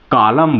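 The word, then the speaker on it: column: के बाद एन है एम के बाद एन है तो इसलिए इसको हम डैम बोलेंगे और इसको कॉलम बोलेंगे क्लियर ओ जो है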